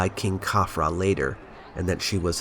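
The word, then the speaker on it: Khafre: if you are wondering why I am saying kafra instead of cafre let me explain his name and the names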